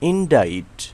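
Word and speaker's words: indict: যেমন আই এন ইন ডি I city ইনডাইট। এখানে সি অনুচ্চারিত আছে।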